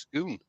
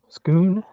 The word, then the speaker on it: scone: a and that is pronounced scon scoon H yeah custle okay I learned how to say scone because my mother was Scottish she was from dunde and that's what they called it little half inch skew